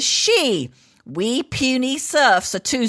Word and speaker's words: Xi: Never mind that the letters XI is pronounced chi, and the name Xi spoken as she.